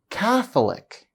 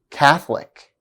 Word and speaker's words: Catholic: not obey these rules Catholic for instance is stressed on the first syllable instead of the second one as rule number two states listen again Catholic Catholic therefore to be sure